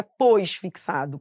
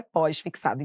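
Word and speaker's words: pós-fixado: tudo junto só que a pronúncia correta é pós fixado então agora qual vai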